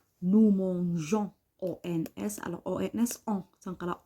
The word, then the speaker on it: mangeons: خاصة donc c'est exceptionnel parce que هنا عندي la lettre G باش ننطقها تقعد لي النطق تاعها G يقدر نزيد الأو. Alors كوما نزيدو الأو نقراها nous mangeons وهذه nous mangeons ما كاينش كاين nous mangeons.